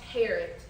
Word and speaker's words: Harriet: Parrot. It rhymes with parrot. I'm sorry? It's pronounced Harriet. The I is silent.